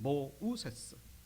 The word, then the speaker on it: 모세: 모세라는 이름은 이 바로의 딸이 지은 이름입니다. 모세, 모우세스입니다. 원래 발음은 모우세스.